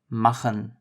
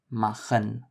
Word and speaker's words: machen: The J in Spanish you might be familiar with from words like jalapeño. That is the first pronunciation of CH. It appears in words like Sache, which is thing, Sache, or machen, machen, which is to make.